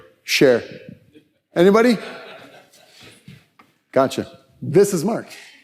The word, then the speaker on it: Scherer: How do you pronounce it? Share.